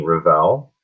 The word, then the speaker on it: Revell: so yeah I mean my name is Revell and that's how you pronounce it and it's a combination of right